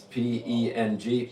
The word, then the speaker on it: peng: It's P-E-N-G, peng, pang, means ward off, roughly.